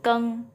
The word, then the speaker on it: geng: Nah, untuk pinyin GENG di sini sendiri bukan bacanya geng ya, tapi keng ya. G jadi K.